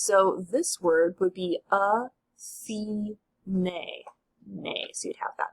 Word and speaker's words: Athene: So as you can see here, if a word ends with a final E, it's pronounced. So this word would be Athene.